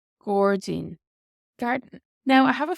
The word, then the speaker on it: gairdín: And Gordzine, Gordzine, garden.